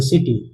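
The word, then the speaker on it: city: मतलब ये क्या होगा? सॉफ्ट हो जाएगा। तो सी आई क्या हो जाएगा? स से ही हो जाएगा उच्चारण तो स सी सी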